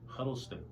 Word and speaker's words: Huddleston: Great, I got it right. Amy Huddleston. Huddleston, wow, All right. you said it right.